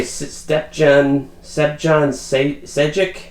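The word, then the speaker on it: Stjepan Šejić: I'm going to say Stepjohn Sejic. Like I said, it's Croatian. A little bit difficult for people who don't pronounce Croatian names all the time.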